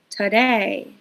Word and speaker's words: today: The first word is today. Do you hear that sound in the first syllable?